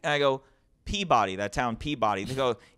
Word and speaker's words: Peabody: If you go up to Massachusetts, there's a town that's spelled P-E-A-B-O-D-Y.